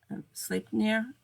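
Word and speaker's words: Sleipnir: name correctly either but I believe it's sleep sleep here sleep near its SL e I pee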